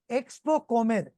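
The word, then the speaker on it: Expocomer: recently over in Panama it is called as Expo com I will spell it out for you e ex p o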